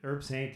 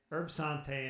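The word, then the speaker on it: Herbsaint: over here, and I don't know if I'm pronouncing that correctly. Is it Herb Saint? Yeah. Herb Sante in French.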